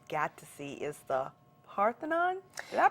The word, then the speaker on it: Parthenon: Now, when we went to Greece, the main thing that you got to see is the Parthenon. Did I pronounce that right?